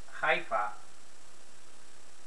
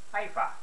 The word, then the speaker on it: Haifa: When English speakers are learning Hebrew, many will find the chet sound rather difficult to pronounce. So instead of, for instance, saying Haifa, they will say Haifa.